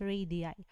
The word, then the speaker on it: radii: form of rages is radii so it is pronounced as radii so pr pq and ps our code radii